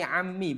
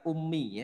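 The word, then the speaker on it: عمي: bersama bersama eh bersamanya di sini Ami bukan Umi ya bedakan Ami dan Umi ibunya Kalau Umi kalau Umi itu pakai Hamzah kalau Ami itu pakai Ain Oh Paman ya Iya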